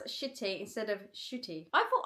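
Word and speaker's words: Ncuti: I thought I do I do say shooty. I say shooty, don't I? Shooty. Shooty Gatwa. But I suppose cuz I say it quite quickly, it does sound like I'm saying shitty. I get I guess it's my London accent.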